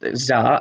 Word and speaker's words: Tsar: That's a Tsar. Pronounced Tsar.